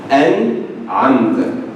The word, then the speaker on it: أنعمت: But remember, we have to differentiate the N, the Alif, or the Hamza. An-amta. It won't be an-amta, it won't be an-amta. Okay? An-amta. And a good way, if you want to practice, just break, just pause.